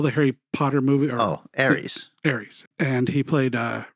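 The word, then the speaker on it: Ares: things and he plays I think it's pronounced Aris from Justice League a-r-e-s uh Fargo TV show all the Harry Potter movie oh Aries Aries and he played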